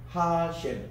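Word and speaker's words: השם: 하셴, 그분의 이름이라고 얘기합니다. 하셴. 우리 따라합시다. 하셴. 하셴. 이렇게 이제 발음하거든요.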